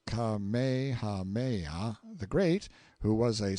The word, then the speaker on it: Kamehameha: When Kamehameha, pronounced Kamehameha, the Great, who was